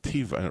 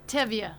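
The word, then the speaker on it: Tevye: And let me just tell you, the more that you are dedicated, and you're like Tiva, or tell you how you say it, Beth Ann? Tevya. Tivia, I was ready for it.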